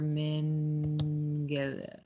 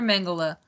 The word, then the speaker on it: Mengele: Mengele.